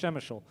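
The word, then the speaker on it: Przemyśl: in shemeshol poland yes shemeshol p-r-z-e-m-y-s-l pronounced shemeshel one of the things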